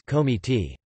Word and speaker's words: komite: Short O is not common in Kurdish and exists mostly in loanwords from Turkish like komite, which is pronounced as komiti.